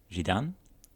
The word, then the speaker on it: Zidane: Zidane Okay. is how the French would say the name.